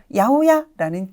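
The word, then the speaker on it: 八百屋: 식료품을 파는 채소가게에 쓰이고 그리고 야호야라는 귀여운 발음으로 읽혔다라는 것도 기억해 주시면 좋겠네요 자 요번에는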